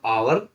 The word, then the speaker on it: hour: H silent वाले शब्द देखेंगे, HOUR, हावर ना हो क्या होगा आवर, आवर मैंने घंटा, HONEST